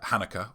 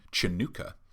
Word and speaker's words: Hanukkah: a great deal about uh hanukkah or if we're going by uh of course smokey robinson's pronunciation chanukah uh teaching a lot